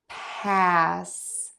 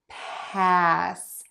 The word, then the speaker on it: pass: Pa and paw so to end the word pass we're going to make an S sound and to do that put the tip of your tongue behind your top front teeth not touching and let the air keep moving out pass pass pass pass